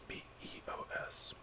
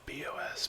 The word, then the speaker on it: BeOS: That's B-E-O-S. I used to pronounce it BOS, but it's BEOS now that I'm aware of it in my older years.